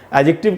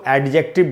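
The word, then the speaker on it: adjective: बात बता दूं कि ये जो वर्ड है एडजेक्टिव, इसमें ये जो डी है, इसका उच्चारण नहीं होता, ये साइलेंट होता है। ये बात बहुत कम लोग जानते हैं। जनरली हम लोग इसको एडजेक्टिव बोलते हैं, लेकिन इसका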